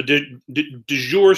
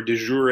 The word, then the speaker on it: de jure: versus du jour so did your segregation or de jure a depending on how you say it is segregation that is